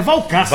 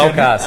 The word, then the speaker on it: Walcacer: porque eu quase sempre cometo erro, né, na pronúncia. É Valcácer. Valcácer, né?